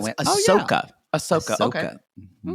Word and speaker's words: Ahsoka: Ashoka? No, it's Ahsoka.